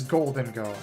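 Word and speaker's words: Gholdengo: Like, the only time I've ever heard it pronounced is by... It is Goldengo.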